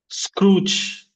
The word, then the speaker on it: Scrooge: Scrooge. Scrooge. Easy. Scrooge, only one syllable.